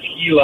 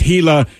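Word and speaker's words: Gila: monsters earlier and that's I'm sorry it's how it's pronounced is hila oh trust me everyone on the text line let us know it's hila it's spell with the G we know now yes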